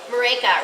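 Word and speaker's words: Maryke: Marika, rhymes with Jamaica. Marika? Okay. Marika.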